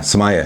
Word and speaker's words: sommelier: Besides being a mad beer expert, she's also going for her sommelier. Yeah. Did I say it right? It's wine. Yeah, sommelier.